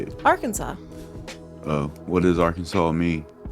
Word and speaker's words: Arkansas: yep Arkansas got its name from French settlers the word Arkansas is pronounced with a silent S at the end it is also against